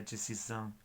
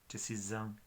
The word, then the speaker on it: decisão: Decisión, hay una S en medio de dos vocales, sería decisão, decisão, decisão.